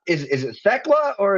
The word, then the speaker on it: Thekla: And well, apparently not always since you went with it's not is it Techla or is it Techla? It is Techla.